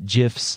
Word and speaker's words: GIFs: I have some ideas for some images and some GIFs, or GIFs if you want to say it wrong, for different projects.